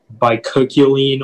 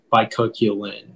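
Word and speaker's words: bicuculline: pronounce the word again so the word is by cochlean or by coculin um yeah those are just the only two by cochlean and bicoculin i me um can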